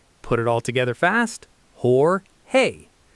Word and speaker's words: Jorge: While people accidentally say George with a hard English J, the standard American industry pronunciation is Hor-hay.